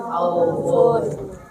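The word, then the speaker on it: خوف: panjang, bukan khaufun tapi Khauf.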